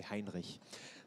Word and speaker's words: Hinrich: investor as bro Vincent hinish hinr you have to say Hinrich that's how you say it already said uh and